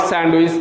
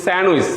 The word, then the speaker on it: sandwich: Chicken and vegetable sandwich, not sandwich, pronunciation is sandwich. A D is silent here.